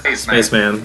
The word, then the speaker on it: Spachiman: Because Froderick pronounced Spachiman, he says Spaceman.